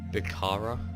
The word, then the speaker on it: Bukhara: But I got Greece, I got my 2 vassals, Persia, Bukhara, yeah, that's how you pronounce it, Kalat, Punjab, Sokoto.